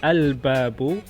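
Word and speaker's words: الباب: And introduce the definite article al-babu. So you pronounce the lam, means the door.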